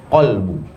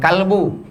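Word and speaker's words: قلب: Letak niat adalah qalbu. Jangan kalbu. Qalbu, pakai qaf.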